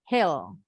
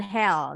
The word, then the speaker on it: hill: Kalau yang ini hill. Hill. Bukit. Hill. Hati-hati bukan hell. Nah e dengan beda bunyinya. Hill, hill. Sama huruf i pendek di kata bukan office tapi office.